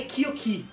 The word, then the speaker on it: Kyoki: mas de qualquer maneira, eu há bocado disse Kyoko, mas ela é Kyoki, tem um i no final, eu disse mal o nome, mas é Kyoki, ok?